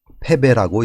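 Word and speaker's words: 敗北: 북녘북이 등지고 달아나다라는 의미로 쓰일 때는 북이 아니라 배로 발음이 됩니다. 이것은 패배라고 읽습니다.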